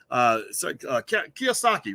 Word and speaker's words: Kiyosaki: It looks like Kiyosaki, Robert Kiyosaki.